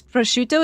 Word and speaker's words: prosciutto: There's a Pokemon streamer from New Jersey who says prosciutto is pronounced with a silent O.